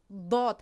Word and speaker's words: ض: و حرفی داد عزیزان بعضی ها ز تلفظ میکنن، بعضی ها اد تلفظ میکنن، بعضی ها آو تلفظ میکنن، در حالی که در حرفی داد در تلفظش کار اساسی رو دو پهلوی دندان میکند، عد، و زبان ما که نوگش تقریبا منمی مقدارش با کمی بالا میچسبد.